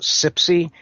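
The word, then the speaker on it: CPSI: it's called the shirt the acronym is pronounced Sipsey creative problem-solving institute cps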